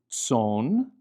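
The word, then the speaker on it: צאן: So the word for flocks is tson, tzadi, silent aleph, nun, tson, and then eretz, and we see the final tzadi at the end of eretz, meaning land.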